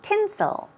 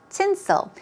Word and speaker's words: tinsel: tinsel here we go stress goes on the first syllable its tinsel tinsel we're talking about things